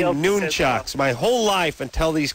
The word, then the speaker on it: nunchucks: Yeah, everybody calls them nunchucks, but they're not nunchucks. They are noonchucks.